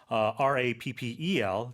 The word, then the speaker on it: rappel: And also distinguish this from a homonym, R-A-P-P-E-L, to rappel. If you're a rock climber, you'll know it means to go down a rope. A very steep vertical downslope is to rappel. That's R-A-P-P-E-L, but the pronunciation is the same.